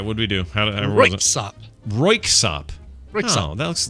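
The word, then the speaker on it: Röyksopp: Okay, I'm going to say Royskop. No. Damn it. Close though. All right, what do we do? Royksop.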